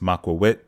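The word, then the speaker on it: macuahuitl: next or another game I'm going to leave you with the correct pronunciation of ocelotto's weapon maqua wit now I know it says the English version is but the correct pronunciation is macawit which makes me wonder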